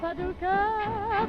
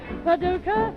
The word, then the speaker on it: Paducah: Oh, Paducah, Paducah, just a pretty little city in Kentucky, but with me it rhymes with lucky when I'm looking into two blue eyes.